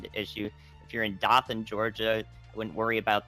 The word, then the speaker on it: Dothan: good tornado warning to issue if you're in dothan georgia i wouldn't worry about this particular tornado